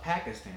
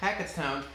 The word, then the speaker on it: Hackettstown: I pronounced that right not Honda Pakistan its Honda Hackettstown I went to them